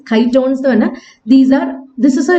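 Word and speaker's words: chitons: something called uh kytons i think that is how it's pronounced kai tones these are this is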